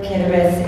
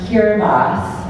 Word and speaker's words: Kiribati: to um talk a little bit about where kabus is um for one it's pronounced kiras I say kabus because I'm from the northern